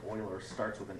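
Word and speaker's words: Euler: but his his last name even though it's pronounced Oilers starts with an E and that's where the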